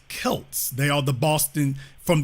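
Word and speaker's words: Celts: documentary any anthropology it's it's pronounced Kelts they are the Boston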